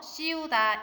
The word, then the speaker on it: 씌우다: 씌우다는 이 발음을 써서 씌우다 이렇게 말합니다.